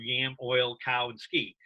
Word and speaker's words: Yamiolkowski: stuck yes i agree your name is a mouthful it's 12 letters but you know the way you said it it breaks down into four very distinct syllables that are very you know easily recognized you know yam oil cow and ski oh i do that's